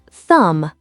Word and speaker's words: thumb: Silent B. Thumb, say thumb. Doubt, say doubt. Climb, say climb. That silent B is sneaky. It's usually at the end of the word after M.